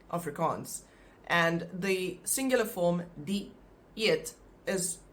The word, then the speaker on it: dieet: And the singular form, dieet, is pronounced like that. You pronounce the first part with the I, di, and then the word eet.